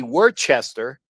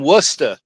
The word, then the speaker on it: Worcester: There are things like that you just know like you know Worcester we would say it' be Worchester but when you know where you know it's I'm from Worcester Massachusetts so it's it's how